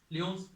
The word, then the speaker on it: Lyon: ये पड़ता है आपका पेरिस में, लियोन्स। फिर इसके बाद आता है, इसको ल्यूनेस भी कहते हैं, प्रोनाउंसिएशन इसका ल्यूनेस का भी होता है, ठीक है।